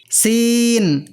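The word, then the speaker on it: سين: এই সিনের উচ্চারণ অনেকটা এসের মতো, কিন্তু এসের তো বিভিন্ন উচ্চারণ ইংরেজিতে আছে।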